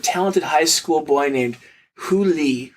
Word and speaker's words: Hu Li: A poor but talented high school boy named Hu Li, whose name is pronounced very similar to the term for fox in Chinese.